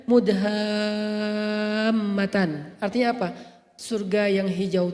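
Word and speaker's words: مُدْهَامَّتَانِ: Bacanya juga harus panjang karena dia rimbun banget. Sehingga bacanya Mudhammatan.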